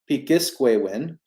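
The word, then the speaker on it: pikiskwewin: bring up another website um and it's called pikisquewin so it's spelt uh p i k i s k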